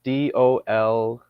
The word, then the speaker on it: Dolores: the what Dolores Cannon what are you saying the first word Dolores or the Lord's what the lowers it's spelled d-o-l-o-r-e-s okay like Dolores is that yeah okay yes